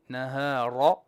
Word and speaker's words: النهار: Make your ra clear. Nahar.